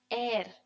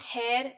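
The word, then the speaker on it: heir: This word is pronounced as air. Okay, the h is silent. It's not hair, it's air.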